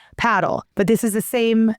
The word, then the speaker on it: Padel: And while we're listening, Padel is spelled Padel, and some people in different parts of the U.S. call it Padel. But in Texas, most of the people I'm talking to are calling it Padel.